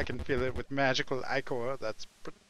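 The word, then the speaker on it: ichor: I can fill it with magical iicor that's pronounced iicor. Choose your icore wisely.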